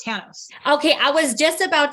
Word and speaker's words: Tanous: for having me christina and it's actually uh pronounced thanos okay i was just about to say that